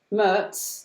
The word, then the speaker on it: Merz: Of course, they do need to realise that although our name's pronounced Merz, there is no T in it. It's MERZ or MERZ if you're North American.